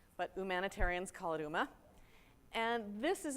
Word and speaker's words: UMA: called user managed access or uma some people pronounce it Yuma but humanitarians Khalid uma and this is its architecture and I want